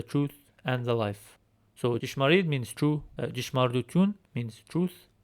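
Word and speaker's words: ճշմարիտ: Here we have Yesyem Jishmarid Vortadunga, which translates to I am the true vine. This word is pronounced Jishmarid. Jishmarid. So this letter in Western Armenian gives a combination sound of D and J.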